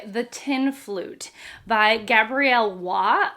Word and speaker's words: Roy: tin flute by Gabriel W although it's spelled Roy r o y but I've been told it's w she is a French